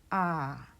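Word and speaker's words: ㅏ: line to the right it is pronounced ah for the second vow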